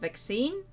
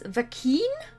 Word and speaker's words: vaccine: mind around it that it's pronounced vaccine like i always read it as vakin and vaccinated until i heard